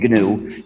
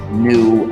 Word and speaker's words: GNU: still is gnu so be careful to print pronounce the name gnu and avoid the various erroneous pronunciations such as nu and linux when people say when people say